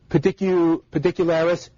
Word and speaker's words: Pedicularis: And so some of them would include, my favorite is probably pedicularis. I will say that again. Pedicularis. So it's just like it sounds.